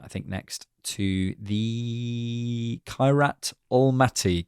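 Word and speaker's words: Kairat Almaty: And, uh, yes, we'll be back for an instant reaction, I think, next to the Kirat Almati game is how you say that name, apparently.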